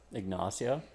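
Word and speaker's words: Ignacio: his name say it ignasio and I'm gasio what Osio ignasio what did you just say ignasio ignasio ignasio ignasio sounds like type of nacho nacho nacho okay and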